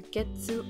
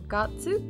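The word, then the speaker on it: 月: The character getsu can actually be pronounced either getsu or gatsu, depending on what you're talking about. Getsu means moon, getsuyobi, moon day, but gatsu is what you use when you're talking about the month.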